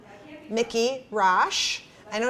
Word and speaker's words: Rasch: uh a new friend of mine called mickey rash i know it's spelled r-a-s-c-h but you said it was rash